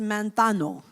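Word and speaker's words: μανθάνω: It comes from a Greek word manthetes, qui vient du verbe manphano, which is based on a verb pronounced manthano.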